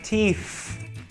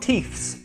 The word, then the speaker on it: teeth: Teeth. Teeth. Never forget the TH sound. Teeth. Teeth. Also, it's not teeths. One tooth, many teeth. The plural is teeth.